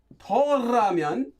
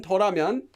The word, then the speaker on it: 더라면: Yes, it's a special sound change rule. The difference between Toramyon and the regular Umyon form.